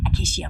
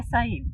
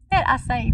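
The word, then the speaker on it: açaí: Like, remember how it's expensive acacia bowls or whatever Acacia. they are? Acai. That's how they. How do you say it? This lady said acacia bowls. Acai bowls. That's how you say it.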